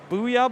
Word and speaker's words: Borceyah: We have Booyah Bomb, spelled like Worcester, Booyah Bomb, right?